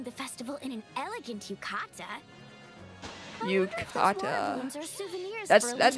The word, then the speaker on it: yukata: She's attending the festival in an elegant yukata. Yukata. That's how you pronounce it, yeah.